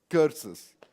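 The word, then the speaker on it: kursus: Well, how do you pronounce it? Cursus.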